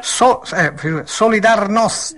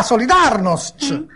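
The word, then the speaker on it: Solidarność: una polacca chiedo sempre come si dice esattamente solidar noos Com'è com'è Come si dice no no capito solidarnost Sì solidar Ah solidarnost così sì ecco ora passo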